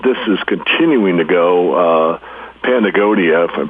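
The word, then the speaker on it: Patagonia: athletic clothing and this is continuing to uh pagonia if I'm pronouncing that right it's p a t a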